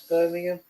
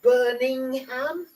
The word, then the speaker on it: Birmingham: And I hate people that can't pronounce Birmingham. Oh, I just say Broom. It's easier. You can't go wrong with that one. Birmingham. Birmingham. Birmingham. Birmingham's all right. Birmingham. But burning ham.